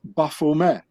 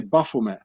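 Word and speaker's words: Baphomet: the baffle mat which has to be pronounced bafoume because the knights templars they spoke french and not english so the t at the end of buffomet it's not being pronounced in french so you say buffume and ba in the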